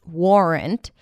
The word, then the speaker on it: warrant: But if it's easier for you to pronounce it with a more rounded mouth, warrant, then go for it because it's a valid pronunciation.